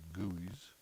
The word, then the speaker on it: GUI: your graphical user interface or the guis pronounced your goys this allows program allows